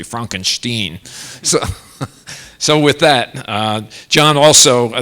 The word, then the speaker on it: Frankenstein: It's just the way and I was, somebody reminded me during the Academy Awards that Gene Wilder reminded us that the pronunciation is actually Frankenstein.